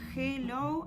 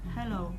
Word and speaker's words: hello: Es algo intermedio entre no sonar y la J. No decimos ni hello ni hello, sino que decimos hello.